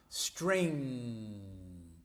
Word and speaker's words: string: String. You see this g here? It's there, but we don't pronounce it. String, sing. Here we pronounce it because it continues.